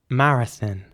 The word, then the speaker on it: marathon: So in British English, it would be marathon. Marathon. And in American English, it would be more like marathon. So the same principle applies with the O.